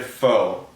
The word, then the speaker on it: faux: combination of beer and foe are fall apparently that i've just learned is how you actually pronounce it um not a great combo but faux itself was all right